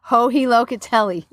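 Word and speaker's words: Joji Locatelli: Can you, do you pronounce it? Hohi Locatelli.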